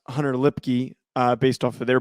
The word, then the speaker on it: Lipke: like okay i did learn how to correctly pronounce hunter lipky uh based off of their broadcast but hunter